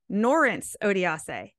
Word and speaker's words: Norense Odiase: this but I want to say it right norence odiase is that better yeah and it's good because